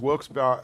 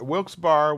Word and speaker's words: Wilkes-Barre: corinth corinth so there's wilkes-barre wilkes-barre wilkes-barre wilkes-barre all three are used and there are people who will fight to the death for their pronunciation that's what our church